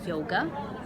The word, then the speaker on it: Yoga: It's called Yoga. And Or Yoda, as I keep saying. yes, Laura keeps mispronouncing it because four-letter words are hard for her.